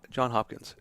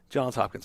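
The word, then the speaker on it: Johns Hopkins: Frank Lynn at John's Hopkins or John John Hopkins uh god a decade ago John's Hopkins I said it right first uh he he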